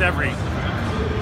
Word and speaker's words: Everi: Everi, did I pronounce it right? Yeah, that's right. It's Everi.